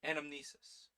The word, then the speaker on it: anamnesis: so essentially uh the title of the game anamnesis anamnesis that sorry that schah is throwing me off sus yeah I'm saying it right brain anamnesis a remembrance of the past or platonism the